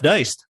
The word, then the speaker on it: Deist: It's an honor to welcome in President of the Mises Institute, Jeff Deist.